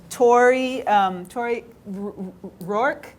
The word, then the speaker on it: Tori Rourke: We also have with us, and now I have to put my glasses on, Tori Rourke. Is that how you pronounce it?